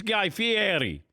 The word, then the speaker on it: Fieri: Okay, because I had people in my audience who were saying that I was mispronouncing it. And my wife's Italian, so I said, no, it's Guy Fieri.